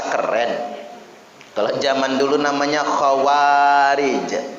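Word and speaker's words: خوارج: Kalau zaman dulu namanya khawarij. Kha, waw, ada alif. Jadi dua harokat bacanya. Ro dan jim.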